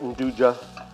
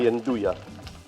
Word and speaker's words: Nduja: Some people pronounce it Nduja. I think they should be Nduja.